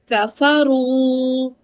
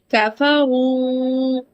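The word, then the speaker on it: غفور: Rasool Rafa'a Rafa'a When letter raw has damma that is the different understanding like go whenever raw carries damma, it is read heavy. So, pronouncing like Ghafaru like Ghafaru And the third is When raw has sukun, the letter before it has fatha.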